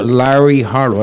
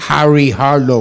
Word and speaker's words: Larry Harlow: gente no se puede hablar el nombre mío, Larry Harlow, es más gringo, tú sabes, muy gringo. No lo pronuncian pero bien. Dice Harry Harlow o Carlo Harlow, pero sabe el judío maravilloso.